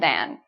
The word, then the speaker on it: than: So then sounds like Ken. You know Ken and Barbie? Ken. It rhymes with Ken, then. Than is more like can. So can, than, Ken, then. So there is a slight difference in pronunciation.